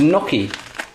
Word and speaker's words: gnocchi: easy meal um I've got this stuff called Noy which is spelled g o n o c c h